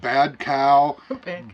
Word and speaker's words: Bodcau: I mean, Tom Merrill I can pronounce, but Bodcau, we pronounce that bad cow, bodcow, cow bog.